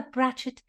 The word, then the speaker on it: brachet: us the spelling of Bret Philadelphia it is spelled b r a c h e t ratchet plural brets it is a female